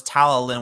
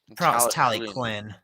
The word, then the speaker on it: Talyllyn: I always thought it was Talyllyn when I was a kid, but it was pronounced Talyllyn.